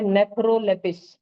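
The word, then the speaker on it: Nephrolepis: ये है नेफ्रोलेपिस। क्या है? नेफ्रो lapis. मैं देखो उसको दो-दो अंडरलाइन तोड़ के करता हूं। नेफ्रो और लेपिस।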